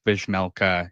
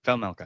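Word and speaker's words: Vejmelka: So I think you want to just pretend the J is an H, so Vamelka. Oh, Yeah, no, okay, Velmelka.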